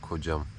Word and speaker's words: Koh Cham: Evet, kocam. Kocam diye okunuyor.